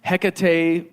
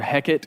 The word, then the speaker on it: Hecate: can tell you it's it's called um Hecate that's one way to say it it's other heckit is another way to pronounce it but hec's sacred Temple